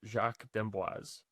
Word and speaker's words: Jacques d'Amboise: So, he pronounced it Jacques d'Amboise.